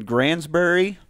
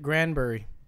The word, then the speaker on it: Granbury: I was playing in Granbury Texas I always thought they pronounced it Granberry grand there's an S in it well then I